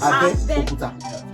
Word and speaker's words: Abeokuta: Abeokuta is Abe, not You know, Abe. the pronunciation is Abeokuta. Abe is under. Anything under is Abe. Okuta means rock or stone. Abeokuta, under the stone.